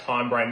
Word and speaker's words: Hinebrain: And yes, Traino, it's pronounced Hinebrain, not Himbrain, you imbecile.